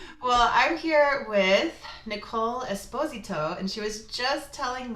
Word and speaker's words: Esposito: It is Esposito, is the Italian way to pronounce it. Most people in the US say Esposito, and if it were Spanish, it would be Esposito.